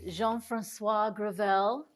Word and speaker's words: Jean-Francois Gravel: I'm your host Dana Craig let's get started Jean Francois grel did I say that okay you said very